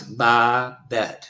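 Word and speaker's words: Babette: want to butcher it no it's by bet b bet b bet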